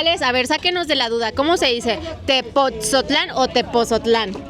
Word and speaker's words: Tepotzotlán: Let's see, get us out of the doubt, how do you say: Tepotzotlán or Tepozotlan? Tepotzotlán. - Accenting the 'T'. - Yeah, the T.